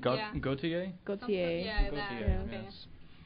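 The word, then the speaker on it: Gotye: Also, Prince announces, I don't know how to pronounce, Gotti, I don't know, winning the Record of the Year. Who? Gautier. Yeah. Gautier? Gautier.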